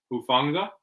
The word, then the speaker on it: Hufanga: Hufanga, I'm pretty sure is how you say his last name.